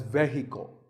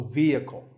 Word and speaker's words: vehicle: next word is vehicle it's often pronounced wrongly as vehicle but the e is a long vowel and the h is silent so vehicle number eight is this